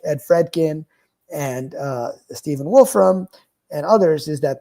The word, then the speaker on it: Fredkin: But Friedkin at Caltech, I thought it was. I've the read about him for pronunciation? years. Yeah, I just thought. Well, Joyce said Fredkin, so but. Okay. But anyway, so this was. She's right. She's right. I'm wrong.